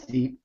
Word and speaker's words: Deep: sectionals um against uh deep that I assume that's how you pronounced it yeah it's deep deep yeah uh and uh deep